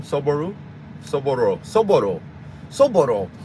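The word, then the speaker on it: soboro: o r o sooru sooro sooro sooro all these years I've been trying to say it like Spanish but I got to say it like Japanese because the way she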